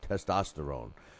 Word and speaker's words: testosterone: writes it out um the way it should be testost orone testosterone so uh thank you very